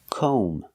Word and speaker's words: comb: calm it's not calm we cannot use the short a sound like hot and stop Cal we have to use the long o sound like no and go we pronounce this word com o make the long o sound com and remember the B is silent don't pronounce the B comb so comb is